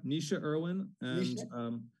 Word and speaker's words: Naoise Irwin: So it's pronounced Naoise Irwin? Naoise Irwin.